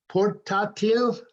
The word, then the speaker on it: portátil: We have to hit the ta. Portátil. El portátil. Portátil es laptop. Okay, because it's a portable computer. Portátil. El portátil.